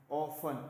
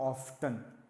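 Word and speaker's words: often: बच्चों T silent है please, ऑफन नॉट ऑफ्टन, इट्स अ ऑफन।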